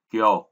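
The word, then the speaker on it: 去: Ông Yomi của chữ khứ thì là chúng ta đọc là kyo và cô.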